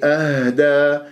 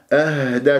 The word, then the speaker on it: أهدى: هؤلاء أهدى، أهدى، شوف الهاء اهتزاز، الهاء الساكنة تتجلى الصفات فيها، لازم نبين الهزة بمنطقة أقصى الحلق، أقصى صاد قريب إلى